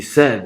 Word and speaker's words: said: And just think about it, what he said is the same as Fred, right? So it's simply the short value for E. It is pronounced no differently than the word that has the letter E, right?